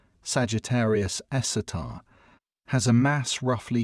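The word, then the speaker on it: Sagittarius A*: The super massive black hole at the center of our own galaxy known as Sagittarius Asterisk, pronounced Sagittarius Esatar, has a mass roughly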